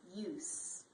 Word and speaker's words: use: as a z but when it's a noun use it's pronounced as an s so that's one way